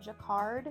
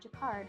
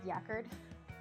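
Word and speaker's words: Jacquard: And it was named after Joseph Marie Jakard, who's the person who invented it. I actually had to look up how to say this word because I thought it was yakard.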